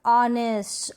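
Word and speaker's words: honest: आवर, ऑनेस्ट, honour, air, ये जो spellings है ना यहाँ पर शुरू में है H और वो क्या है, साइलेंट है, नहीं पढ़ा जा रहा, नहीं बोला जा रहा, इसको हम प्रोनाउंस नहीं कर रहे।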